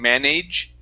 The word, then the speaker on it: manage: Now, the a g e here at the end. We don't want to pronounce that as age. saying manage. Okay. It's going to be a short I and a G sound.